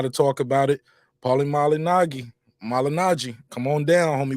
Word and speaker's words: Malignaggi: about this Paulie malignagi I think he pronounced it the proper way Paulie malinagi but I think he just